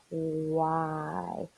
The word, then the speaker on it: why: is that w sound our h is silent it's a silent h which means it's not saying anything it's so you don't